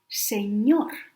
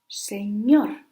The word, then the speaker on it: señor: If the word ends in any other consonant except S and N, then the stress goes in the last syllable, like señor, señor, the end.